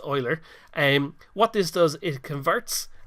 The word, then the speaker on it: Euler: And what Euler does, it looks like it might be pronounced Euler, but it's actually pronounced Euler.